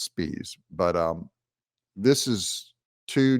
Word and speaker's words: Spies: this Democrat operative and his name is Charlie spies it's actually pronounced spes but um this is